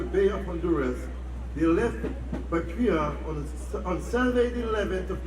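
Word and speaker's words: Bequia: 5 days later, he arrived to Balisur, where from the prisoners were taken to the port of Bekia, but pronounced Bechua, and where the vessels were anchored ready for the repatriation.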